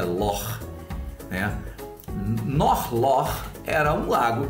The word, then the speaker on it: loch: Na verdade, o lago na Escócia a gente chama de Loch, mas na verdade a pronúncia correta é Lor, né?